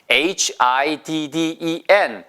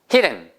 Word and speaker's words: hidden: H-I-D-D-E-N. hidden. hidden. 아시겠죠? 이거는 he라고 길게 발음하시면 안 돼요. 짧게 하셔야 돼요.